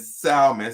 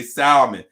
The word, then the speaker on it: salmon: my friend ki say the l is silent and salmon some people say salmon is salmon or turkey